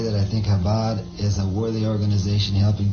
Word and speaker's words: Chabad: Here's Bob Dylan, and see, I've been pronouncing it wrong. It's the Chabad, because I don't speak the so I don't know how to pronounce it correctly. But I guess the C is silent. The Chabad.